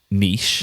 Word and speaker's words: niche: Well, now that's very different to how I say it, which is niche. Niche. But it's actually very close to how it's pronounced in US English.